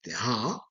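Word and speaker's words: هاء: And ha, which is pronounced ha, sounds more like H.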